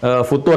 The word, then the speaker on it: futur: apa yang disebut dengan futur itu ya, yang sudah pernah kita bahas, bukan future, tapi futur. Gitu kan? Nah, jadi itu nggak usah di Inggris-Inggrisin, futur. Gitu ya. Jadi nggak usah bacanya future.